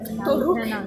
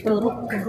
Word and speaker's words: Toruk: Yeah, Toruk is actually the right way to say it. How do you say it again? Toruk. Toruk. R. Yeah, an R that's the role.